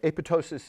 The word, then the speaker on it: apoptosis: something like that so the second p is silent most people get that wrong sorry um all right